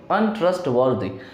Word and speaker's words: untrustworthy: यहाँ पे ध्यान दीजिएगा कि आर के बाद यहाँ पे टी है, टी कॉन्सोनेंट होते हैं, और अगर आर के बाद कभी भी कॉन्सोनेंट होते हैं तो आर को साइलेंट करके बोला जाता है फोनेटिकल।